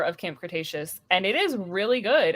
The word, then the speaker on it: Cretaceous: Is that how you pronounce it? Cretaceous.